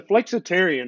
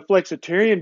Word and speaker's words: Flexitarian: And then the Flexitarian, I mean, that's my favorite. It rhymes with vegetarian and it basically is